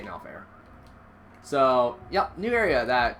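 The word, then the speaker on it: Norfair: People pronounce it weirdly. I say No Fair.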